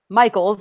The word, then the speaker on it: Michaels: Don't know much about him other than I know that their pronunciation guide included Michaels in case anybody had trouble with M-I-C-H. Oh, yep. But it is Michaels.